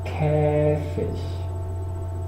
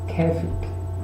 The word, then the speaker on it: Käfig: También se pronuncia Käfig, según de qué zona de Alemania o de Centro Europa estemos hablando. En el centro y norte de Alemania se suele pronunciar como Käfig y en las zonas del sur, Austria y Suiza, se suele hacer Käfig.